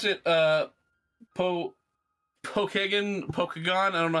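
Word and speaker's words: Pokagon: how you pronounce it Pokemon like Bakugan yes Pokemon it's Pokemon cool yeah it's a it's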